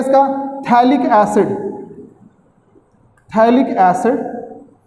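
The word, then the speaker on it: phthalic acid: इसका common name क्या है बेटा, कॉमन नेम क्या है इसका, थैलिक एसिड, थैलिक एसिड, पढ़ते इसको थैलिक एसिड है बट लिखते हैं PHB लिखते हैं, साइलेंट है, पैथैलिक और थैलिक एसिड बोलते हैं, दिस इज थैलिक एसिड।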